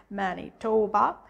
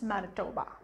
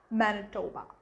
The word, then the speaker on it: Manitoba: um manitoba now if you read it's like manny tawba but when it comes to pronunciation it's manitoba manitoba and another province that is really popular with